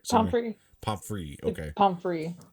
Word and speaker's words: Pomfrey: And then he's complimenting Madame Pomfrey, and Pomfrey, that's how you pronounce it, right? Pomfrey.